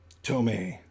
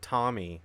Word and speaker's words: Tomy: They're made by Tomy. Tomei. I always pronounce that Tommy, but dude, those look like those look.